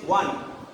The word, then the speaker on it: one: This one is one, not on.